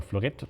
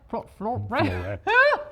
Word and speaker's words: Florett: And eventually a Kreidler Florett turned up, and I also paid attention to the look.